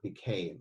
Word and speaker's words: became: Another example is the word became. Again, it's got a silent E at the end.